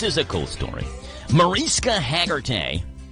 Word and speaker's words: Hargitay: Mariska Hargitay, or Hargitay, I guess is how you say it.